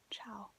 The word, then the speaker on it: ciao: you say hi ciao so it's we're gonna spell it right here and then show it to you so it's like c i a o ciao now you try to say it ciao and